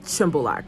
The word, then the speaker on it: Shymbulak: resort of shambalak it's spelled shambulak but it's pronounced symbolak so staying in shimbalak so there it is and I leave uh